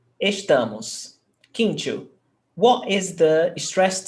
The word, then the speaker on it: estamos: Now, estamos. Which one is the stressed syllable? Estamos. The Tá. Second last? Yes, second last. Tá. So it's paroxítona. And paroxítonas ending in OS don't have the accent. So, no accent there.